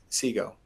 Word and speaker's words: CGOE: are available through uh SIGO, which is the how we pronounce the acronym.